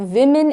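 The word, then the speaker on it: women: Is international day ऑफ विमेन in maritime. How डू we pronounce it? वे-मेन। जो singular होता है उसको हम वू-मेन बोलते हैं। वूमेन, this is विमेन।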